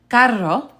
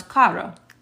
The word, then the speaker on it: carro: pronunciation matters is because carro is the word for car. But if you don't roll your R, then this just becomes caro, and it means expensive.